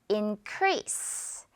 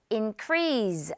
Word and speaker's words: increase: increase. Increase 아니고 increase s 발음.